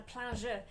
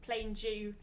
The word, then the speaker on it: plein jeu: And I had the job of pulling out the plein jeu. Your pronunciation of plain Jew. Plain Jew. Pleasure was the English way. Corrected earlier. The English way of saying it, isn't it?